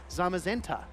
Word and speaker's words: Zamazenta: here oh okay okay I've heard this one mispronounced to the nth degree but I think a really easy way to remember is it's uh it's uh I guess brother Pokemon right zamazenta we don't say zenta right okay yeah that's true